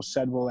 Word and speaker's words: schedule: pronounces the word schedule shed will any house in Australia New Zealand and in the UK right so it's we